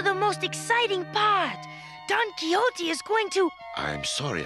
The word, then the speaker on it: Quixote: A good book, Jake, called Don Quixote. That's pronounced Quixote.